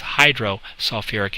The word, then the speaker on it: hydrosulfuric: like we did before, we're going to add that extra little syllable, sulfuric acid. So it says hydrosulfuric acid for the answer.